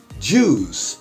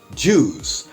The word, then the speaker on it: juice: inglês pessoal em inglês nós temos palavras com ui Porém tem o som apenas de U veja alguns exemplos Suit